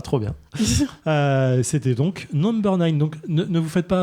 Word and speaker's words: NMBR9: Euh, c'était donc Number N.